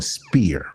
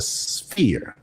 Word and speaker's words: sphere: I was saying spear. All right. It's not a spear. It's a it's the sphere.